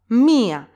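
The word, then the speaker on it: μία: first case of course mia gets an accent because yota is pronounced separately from Alfa mia two syllables so yota gets an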